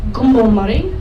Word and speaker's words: Kupae: Now, the word Kupae, or Gumbomari, which is the way it is supposed to be pronounced, essentially means people who hunt the teredo worm.